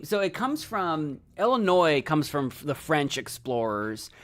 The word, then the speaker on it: Illinois: explorers called the place Illinois. And you know how the French are, they don't actually say half their letters. So that's that's why it's spelled that way.